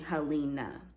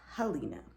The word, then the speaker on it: Helena: so they named me halina it's spelled h-e-l-e-n-a but it's pronounced halina my middle name is